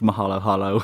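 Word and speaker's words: Moholoholo: the mohel oh hello I think he might be pronounced Mahalo hallo he's at the Mahalo hallo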